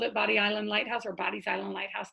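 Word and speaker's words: Bodie Island: north of us to body island which which oh here is called bodies island it was sometimes written d-o-d-y apostrophe s sometimes b o d i e s to this day it maintains the i e so any third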